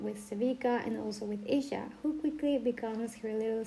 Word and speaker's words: Isha: By the way, I was pronouncing the name very wrong. I mean Isha, because I was saying Aisha.